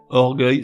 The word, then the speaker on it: orgueil: Je m'explique, avec une terminaison en E-U-I-L, orgueil se prononcerait orgueil, et cercueil donnerait cercueil.